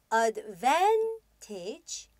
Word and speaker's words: advantage: 자, 우선 좀 길이가 길다 보니까 강세의 위치를 정확하게 확인해 주셔야 되는데요. advantage 혹은 disadvantage 하고서 V-A-N, van 부분을 강하게 읽어주시면 되겠습니다.